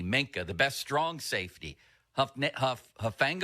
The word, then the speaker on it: Hufanga: The best strong safety, Hufanga, I think his name is. I don't for know the 49ers. I'm so bad at pronouncing those names. Hufanga, yes, Hufanga. You're absolutely right about that, Fulsey.